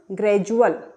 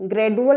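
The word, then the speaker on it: gradual: Next देखिए डी के पहले कुछ लेटर्स है और डी के बाद में क्या लिखा हुआ है? UAL। तो डी का उच्चारण हम क्या करेंगे? जा। तो क्या पढ़ेंगे इसे हम? ग्रेजुअल। इसे हम ग्रेडुअल नहीं पढ़ेंगे, ग्रेडुअल गलत हो जाएगा।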